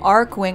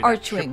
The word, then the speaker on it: Archwing: get your arc wing team together immediately oh arc wing i pronounced it enemy lines it's not archwing that's preventing us from leaving roger god speed